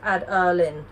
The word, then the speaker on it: Adeline: The name we loved is pronounced Mad Arlin. Hers is pronounced Ad-Erlin.